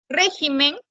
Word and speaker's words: régimen: aumenta una sílaba bien régimen régimen es esdrújula es esdrújula y se tiene que tildar regímenes regímenes también se va